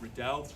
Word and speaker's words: Riddell: That second L at the side there means that you pronounce it like that, Riddell.